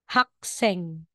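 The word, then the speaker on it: 학생: mo yang guo Okay Hindi po siya babasahing hako magiging hako intense sound po siya hako o po hak Seng yan hak Seng so Kapag sila po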